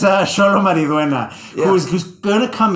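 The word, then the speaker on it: Xolo: Sholo. You have to pronounce. Okay, so you pronounce the French names, I pronounce the Mexican names. That's how it goes. Yeah. It's Sholo Mariduena, who's going to come in because he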